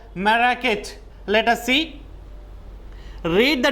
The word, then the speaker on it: Marrakech: Marrakech. Okay? Note down the pronunciation. Marrakech.